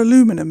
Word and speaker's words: aluminum: I've also used a 1 millimeter plastic coated garden wire and 2 millimeter thick aluminium wire, or aluminum as it's pronounced in America.